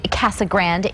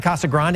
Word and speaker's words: Casa Grande: morning to students in CA Grande the kasag Grande area these pictures coming in from CAG Grand dispatch the proper pronunciation of the city is kasag but Mayor Bob jackon